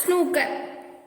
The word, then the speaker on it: snooker: The letter group OOK is mostly pronounced with a short U. As in put, exceptions are spook and snooker.